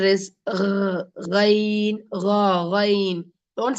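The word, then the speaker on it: غين: But the Ghain is written like this in English, but we cannot read it properly because what I have written is Gain, isn't it? Gain. But in Arabic, we cannot, there's not a good pronunciation in English for that. So the real pronunciation of like this, Ghain.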